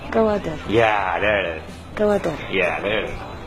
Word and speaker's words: Gwadar: Yeah, it's Gawadar, not so harsh like Gawadar. Gawadar. No, Gawadar. Gawadar. Yeah, there it is. Gawadar. Yeah, there it is. Gawadar. Not Gwadar. Not Gawadar. Gawadar.